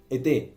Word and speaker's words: étaient: Y también la ils étaient es étaient, se escribe étaient, pero no es étaient, es été también, ¿ok?